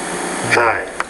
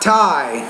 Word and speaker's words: thigh: tight, thigh, No, not tie. Thigh. Thy.